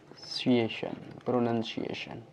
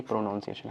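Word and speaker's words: pronunciation: यानी कि हमारा प्रोनंसिएशन, प्रोनंसिएशन ध्यान रखना, प्रोनंसिएशन बोलते हैं ना कि प्रोनाउंसिएशन।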